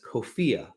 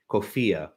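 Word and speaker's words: COFEA: a database known as kofiya uh it's spelled c the acronym is c-o-f-e-a kofiya which is the corpus of founding era american english rhymes with sophia to make it easy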